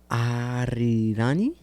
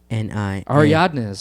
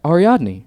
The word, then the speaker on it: Ariadne: They aren't big characters at all, but Aridani? It's Ariadni. Ariadnes or something like that, right? It's right here. I butchered that.